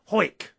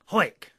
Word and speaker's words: Howick: Howick, where Ian lives, it is pronounced Hoik. Hoik.